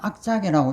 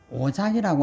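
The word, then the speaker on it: 惡作: 거예요 오자를 그 학자거든요 이것을 악착이라고 읽지 않고 오장이라고 이렇게 읽습니다만은 후회를 오작이라고 하는데 악작이라고 하는데이는 했던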